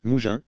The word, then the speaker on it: Mougins: francisation du provençal écrit le nom mougins se prononçant exactement comme mougins le s final étant la plupart du temps muer en provençal alors qu'ils étaient prononcées au moyen âge vous juin tu à